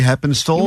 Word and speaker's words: Heppenstall: Ray Heppenstall.